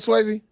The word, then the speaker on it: Swayze: Am I saying that right, Swayze?